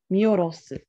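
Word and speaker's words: 見下ろす: You pronounce this character wrong. What is that? Ro. Hi. Orosu. Miorosu. Miorosu. Mura o miorosu.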